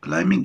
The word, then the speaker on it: climbing: climbing هنا البي لا تنطق climbing يعني التسلق.